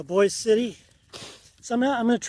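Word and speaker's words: Boise City: a guy boy City they call it boy but it's spelled Boise so boy City so I'm I'm going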